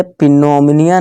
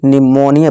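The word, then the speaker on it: pneumonia: next letter है पी यदि पी के बाद एस एन एस हो या एन हो तो प साइलेंट होता है पी के बाद हमारा यहां क्या है एन है इसी तरह से पिनोम निया नहीं निमोनिया पढ़ेंगे क्यों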